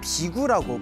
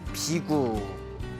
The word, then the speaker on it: 비구: 부처님의 머리를 깎고 출가한 제자들을 비구라고 부릅니다. 비구. 그래서 인도에서는 비쿠라고 합니다. 비쿠. 그리고 이제 우리 한문 발음으로는 비구라고 이제 부르고 있습니다.